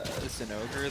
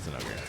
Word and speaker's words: Zinogre: Zinogre, the No, not Zenogre.